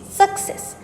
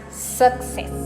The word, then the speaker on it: success: It's success. The easiest way to remember this is that there is no suck in success. Success doesn't suck, isn't it? So pronounce it as success.